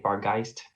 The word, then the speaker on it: Barghest: but in fact a Bargeist. Whatever. No, I'll attack this nearby goblin here. That's a 15 hit. Actually, that is how it's spelled, Barghest. Yeah, but it's pronounced. 15 Bargeist.